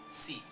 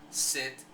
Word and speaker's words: sit: And, for example, a Spanish speaker pronounces sit like seat. Why? Because then the English speaker decodes that E as E and hears seat, S-E-A-T, instead of sit, S-I-T, S-I-T, excuse me.